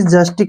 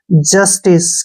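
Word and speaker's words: justice: आई सी ई ठीक है ना इसको हमने जस्टिक नहीं पढ़ना है य ध्यान से देखिए आधा पढ़ लेंगे जे का उच्चारण ज हो गया ठीक है य का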